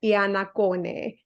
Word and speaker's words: Iannaccone: I've ever been lucky enough to know, Elisa Iannaccone. It has taken me a long time to learn how to pronounce your surname properly.